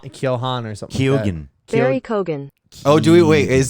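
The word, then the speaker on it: Keoghan: tuned we're still recording you say it barry keon okay there you go okay barry barry so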